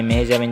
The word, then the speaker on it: মেহজাবীন: তার নাম মেহজাবিন চৌধুরী কিন্তু তার নামের শেষে এন উচ্চারণটা হবে না মেহজাবি শব্দের অর্থ হচ্ছে